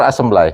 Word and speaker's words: assembly: Assembly or assembly?